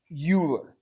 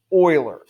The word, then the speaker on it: Euler: Now, this is not Euler. It is pronounced Euler. I mean, very much like oil.